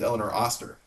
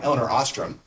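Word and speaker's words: Elinor Ostrom: Um, well, there's an economist, actually the first woman to ever win the Nobel Prize named Elellanar Auster. She's awesome. Um, and I got her name wrong, Elellanar Austramm.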